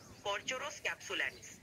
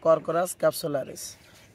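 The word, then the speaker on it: Corchorus capsularis: পাটের বিজ্ঞানী নাম হলো কর্চুরোস ক্যাপসুলারিস। এটি পাট গাছের একটি প্রজাতি। হ্যাঁ, আমরা বলে থাকি আসলে কর্করাস ক্যাপসুলারিস। উচ্চারণের একটু ভিন্নতা থাকতেই পারে, কিন্তু সঠিক বলেছে।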